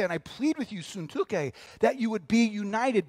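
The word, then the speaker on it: Syntyche: name is Euodia, there it is, Euodia, and Suntuke. And so when I sound really smart, like, wow, he knows how to pronounce biblical things, it's because I read it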